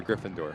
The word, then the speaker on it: Gryffindor: last half hour but no logo gind door Gryffindor okay good Google search good Google search you actually did pronounce it right so good for you what